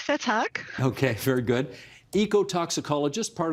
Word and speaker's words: Vethaak: You're going to help me with pronunciation on his last name, Dick Vetak. Is that how he says it? Yep, very close. Vetak.